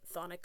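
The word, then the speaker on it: chthonic: I don't think you pronounce the sea. I think it's just thic like thonic hermes function.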